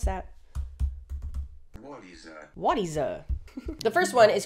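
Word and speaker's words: Wattieza: How do I pronounce that? Wadiza. The first one is called Wadiza and is known as the world's first tree that we know of.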